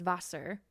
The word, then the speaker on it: Wasser: So for example, we say water in English, and in German it's Wasser. Wasser, Water, and their W's are kind of pronounced as V's. So on paper, it's Wasser, Wasser, but pronounced with a V.